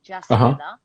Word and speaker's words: Jasmila: So Yasmila is spelled with a J. Jasmila.